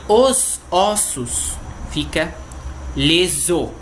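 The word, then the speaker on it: les os: E os ossos fica leso, sem pronunciar o S.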